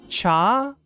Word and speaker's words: chat: Cha. Wait, what? Jane is saying cha, don't pronounce the t.